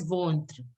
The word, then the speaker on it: ventre: Stomach is pronounced as ventre.